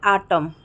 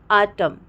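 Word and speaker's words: autumn: तो एन में क्या है दोस्तों, किसी भी वर्ड में अगर एम और एन दोनों साथ में आते तो हम एन को प्रोनाउंस नहीं करते हैं, एन साइलेंट हो जाता है।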